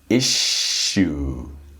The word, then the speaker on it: issue: So it's issue. Issue. So it's really like the the word you.